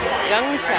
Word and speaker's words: Yunchai: Yunchai. Yeah, like the latte.